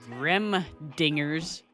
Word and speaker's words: Rim Dingers: two-pointer putting them on the board yeah rem dingers there we go i said it right that